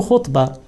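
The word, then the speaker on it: خُطبة: خطبة is very similar to khutbah. Khutbah means sermon, lecture, when you give a talk, when you advise people. But if you pronounce it with kasra, khitbah, khitbah has a different meaning, that is to propose marriage to a woman.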